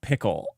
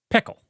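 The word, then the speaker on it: Pkl: know I don't know let let's talk about pickle so I learned that PK is actually pronounced pickle now you wouldn't get it from their read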